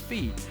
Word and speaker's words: Fe: didn't know whether to pronounce it F-E or Fee. Yeah. Do you know now? It's Fee.